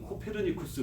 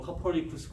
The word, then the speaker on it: 코페르니쿠스: 그러다가 이제 1600년경에 폴란드의 한 그런 이제는 이제 점성술가가 아니고 천문학자가 나타나서 이 사람이 코페르니쿠스라고 하는데 우리 한국 발음은 코페르니쿠스 이렇게 배웠는데 뭐 영어로는 뭐 코퍼니쿠스 뭐 그러더라고요.